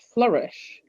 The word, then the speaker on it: Flourish: So I changed it up and I called it Flourish, I love that. which is all about, it rhymes with nourish.